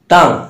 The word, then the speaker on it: tongue: টাং, টাং বানান করতে TONGUE, TONGUE, দেখো GUE আছে লাস্টে, যদি GUE থাকে তাহলে সেক্ষেত্রে কি হবে?